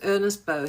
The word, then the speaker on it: Ernest Beaux: You don't pronounce the x in French. His name was Ernest Beaux.